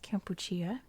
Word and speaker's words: Kampuchea: and for one thing cambodia is campuccia in cambodia and that's because this is the english version of the french version of kampuchea which has happened to